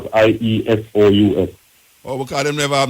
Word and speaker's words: Iesous: The word is pronounced as IESOUS.